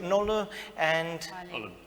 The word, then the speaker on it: Nolu: So we've got Nolu and Oliver. Oliver, and you said? Nolu. Oh, okay, I did say it right the first time.